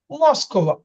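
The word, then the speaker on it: Москва: তো দেখেন এখানে আছে মস্কোভা কিন্তু উচ্চারণ হবে মাস্কোভা, মাস্কোভা।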